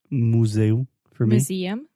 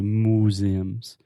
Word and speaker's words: museum: Museum museum museum yeah so there is that kind of m y sound at the beginning like in me and you Mew museum museum I was hearing you and a lot of our students do this say museums but you want to say